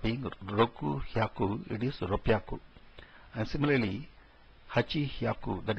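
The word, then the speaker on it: 六百: 600 is Ropyaku. Instead of being Roku Hyaku, it is Ropyaku.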